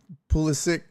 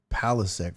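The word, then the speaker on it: Pulisic: Uh yeah, Pulis Pulysic. Pulysic. Yeah, whatever. I always want to say palisk for some reason, but it's pul Christian pulysic.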